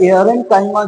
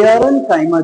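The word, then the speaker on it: aerenchyma: यह एआरएनकाइमा जो है वह, जैसा कि नाम से क्लियर हो रहा है, प्रोनाउंसिएशन में एयर आ रहा है, एयर दैट मींस हवा।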